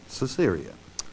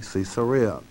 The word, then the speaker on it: Caesarea: came to caesarea and some people today pronounce it caesarea okay properly cesarea now there's an interesting